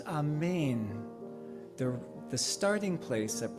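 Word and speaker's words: אמן: so ashay ah the original is in Hebrew for the word amen pronounced a main the the starting place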